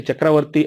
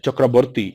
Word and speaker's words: Chakravarti: As the Bengalis, they say Chakravarti as Chakraborti. Instead of va, they pronounce as ba.